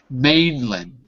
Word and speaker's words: mainland: not what I said listen carefully Mainland good mland so be careful because it's not really land when we because the stress is on the first ma good okay second